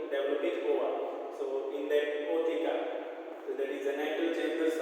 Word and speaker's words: ootheca: The sperms are transferred through a spermatospore, and their fertilized eggs are insects that is ootheca. That is O is silent, ootheca.